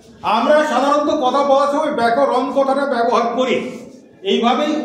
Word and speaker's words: ব্যাকরণ: বাংলা ব্যাকরণ। ঠিক করে বলো, বাংলা ব্যাকরণ। বাংলা ব্যাকরণ। কিন্তু আমরা উচ্চারণ করি কি? বাংলা ব্যাকরণ কি ন উচ্চারণ আমরা সাধারণভাবে করি না, আমরা ন উচ্চারণ করি।